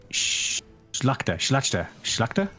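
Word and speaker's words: Szlachta: Oh, LTC in my chat says the SZ is pronounced like the English SH. So, Schlachta.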